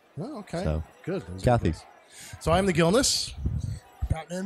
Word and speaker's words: Cathey: Yeah, so some people try to put like the French accent Cathey. On it, but it's actually Irish. Oh, okay. So. Good. Cathey.